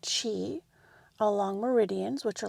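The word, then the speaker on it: qi: a little primer there but chi which is spelled q i is like the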